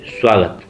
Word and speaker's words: स्वागत: जैसे बात करूँ मैं स्वागत, तो जबकि यहाँ पर उ है ही नहीं, लेकिन हमें बताया ना जैसे कि स के बाद व्यंजन आया तो उसका उच्चारण उ हो जाता है।